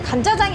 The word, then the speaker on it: 간짜장: 짜장을 많이 했잖아요 근데 간짜장이 없더라고요 간자장 일단 여기서 간짜장이 무슨 뜻인지 모르는 경우 되게 많은데요 원 발음은 간짜장 까이는 드라이하다 마르게 짜장을 볶는다 그런 뜻이고요 보통 물을 안